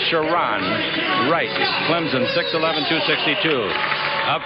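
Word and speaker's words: Sharone: in the middle here is sharon wright it's pronounced sharon wright clemson 611 262.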